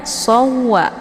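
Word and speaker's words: سَوَّى: Maka cara bacanya ini bagaimana? Perlu ditahankah dengan cara dibaca dengung atau tidak? Nah, itu tidak perlu. Jadi cara bacanya sawwa, langsung ya, soalnya ditekan langsung masuk ke dalam waw yang kedua. Asawwa. Jadi tidak perlu ditahan ya, karena di sini tidak ada unsur dengungnya.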